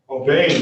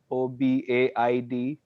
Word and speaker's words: Obeid: Obeid, right? Am I pronouncing that right, sir? Yeah, that is correct, sir. My last name is Obed, Obaid.